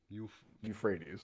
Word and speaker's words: Euphrates: Euphrates.